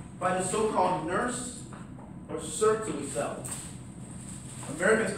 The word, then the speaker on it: Sertoli: He said, "I hate the way you mispronounce the man's name. The man's name was Sertoli." So I always say Sertoli cells. And hopefully there's hundreds of students now, people all across the country, that pronounce it right. The Sertoli cells, not Sertoli.